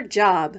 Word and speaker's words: Job: Ruth shouts 1, 2, whee before going off to her job, which in the Bible is pronounced Job.